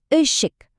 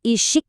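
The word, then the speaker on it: ışık: Kata untuk cahaya dieja i se ik. Dibacanya ik. Kenapa? Karena dia pakai e tanpa titik. Jadi bukan isyik ya.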